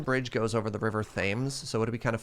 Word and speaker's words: Thames: no no no no wait thames is pronounced thames that doesn't even make any